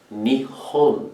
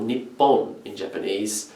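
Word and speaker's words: 日本: for japan itself in japanese japan is called nihon or nippon or land of the rising sun as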